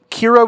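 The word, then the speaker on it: Qi'ra: Kira with a Q.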